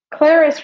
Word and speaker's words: Clarice: Clarice rhymes with Paris.